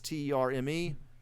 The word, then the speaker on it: Terme: I need to look up the pronunciation on that. It's Terme.